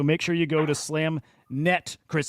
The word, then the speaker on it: SlamNet: domain guys so make sure you go to slamet Chris it's slamet okay XYZ claim I may have said it